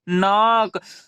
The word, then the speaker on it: knock: उसी प्रकार KNOCK के साथ एन है हमारा, तो के साथ एन रहेगा तब वहां के उच्चारण नहीं करते हैं, तो के को यहाँ छोड़ देना है और NOCK इसे हम क्या पढ़ेंगे, नॉक।